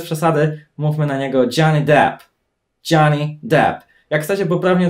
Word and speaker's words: Depp: Depp. Nie jest to Deep. W Polsce często słyszę ten błąd.